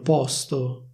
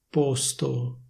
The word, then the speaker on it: posto: E loro hanno posto. Come dicevo prima, io questo participio lo pronuncio in questo modo. Se vuoi, puoi dire posto.